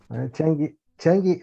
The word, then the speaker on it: Chang'e: And I'll begin with the history of Chang'e. Chang'e, I don't know how to say in Chinese. That's right. You're saying it correctly.